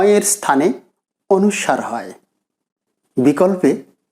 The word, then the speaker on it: অনুস্বার: এখানে অনেকেই ভুল ধরতে পারেন যে আমি কেন অনুস্বার উচ্চারণ করছি এতদিন তোমরা অনুস্বর উচ্চারণ শুনে এসেছি এক্ষেত্রে